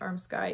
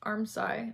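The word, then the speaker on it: armscye: from a viewer that it's not pronounced arm sky even though it's spelled a-r-m-s-c-y-e it's pronounced armsci i'm probably still pronouncing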